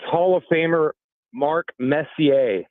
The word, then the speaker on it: Messier: Just think French. When you see a lot of those names, think French.